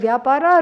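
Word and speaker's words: vyapara: of vapara that's why the word vapara rhymes with samsara that is how it is so I am free this understanding has to come so indifferent indifferent to whatever happens.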